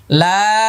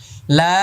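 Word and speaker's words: لام: এবার এটা লাম, শেষে মিম আসছে, ঠোঁট বন্ধ হয়ে যাবে। লা 4 আলিফ টান, হ্যাঁ 8 নম্বর মাখরাজ। লাম, আবার আবার লাম, ঠোঁট বন্ধ হয়ে যাবে।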